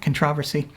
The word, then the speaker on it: controversy: By the way, Richard, that's the way to pronounce that, controversy.